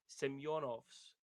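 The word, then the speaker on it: Semjonovs: before, Senior, that Romans Semyonovs. I think he's coming from hockey. Is that the correct pronunciation there? It is. Roman Semyonovs.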